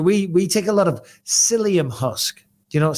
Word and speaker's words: psyllium: Psyllium husk, spelled with a P-S-Y.